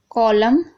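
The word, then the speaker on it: column: अब देखिए autumn, कॉलम, हिम, तो यहाँ पर देखिए एम एन से पहले एम है तो यहाँ पर एन साइलेंट है, यानी ना हम नहीं पढ़ रहे।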